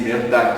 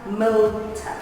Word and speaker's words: Mirta: I just don't like the way you pronounce my name. Okay. How must I pronounce your name? Mirta. Oh, okay. So the R is silent.